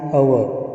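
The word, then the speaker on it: hour: Consonant का word है लेकिन आवाज़ें जो हैं वो वॉवेल की निकल रही हैं क्योंकि पहला लफ्ज़ जो है साइलेंट है। तो एन आवर, एन एयर, तो यहाँ पर हेयर नहीं पढ़ेंगे बल्कि एयर यानी बारिश एक्सेट्रा।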